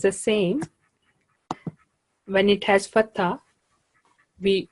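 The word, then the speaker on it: س: Can you say Ra.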